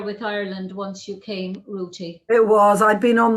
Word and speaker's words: Ruti: to be very clear this is not me not able to pronounce my th's but her name is spelled r-u-t-i rooty uh you were born